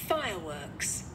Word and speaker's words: fireworks: Fireworks. Ok, các bạn đọc là fireworks đúng không? Fire thì các bạn lên giọng và works thì các bạn xuống giọng.